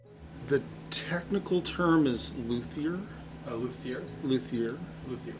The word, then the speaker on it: luthier: Luthier. Luthier. And there's multiple pronunciations, but we'll stick with luthier because it's more the American version. French is luthier, but and if you're from the South, Luther.